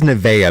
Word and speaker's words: Nevaeh: or windex what does nevaeha mean does that mean heaven yeah it's heaven spelled backwards oh okay the h is silent that makes sense oh